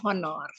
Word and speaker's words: honor: juga sebaliknya misalnya kata honor ya tulisannya kan honor tapi kalau dibaca itu hanya kan tidak terbaca jadi honor ya Jadi kata anak honor itu diawali dengan kata an ya dibandingkan e karena saat pengucapan kata honor ini lebih terdengar seperti huruf vokal ya karenanya lebih menggunakan dibandingkan dengan O ya contoh lainnya adalah